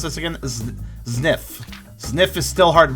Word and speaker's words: Zniw: How do I pronounce this again? Zniw.